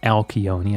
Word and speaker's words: Alcyone: Fantastic little performance there by herO on that first map, as our second map is going to be Alcyone, or Alcyone, I think it's pronounced in Greek.